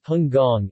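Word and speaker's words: 香港: On the other hand, since early 20th century, Hong Kong, pronounced as Hung Gong in Cantonese, then under British colonial control, developed quickly in every aspect.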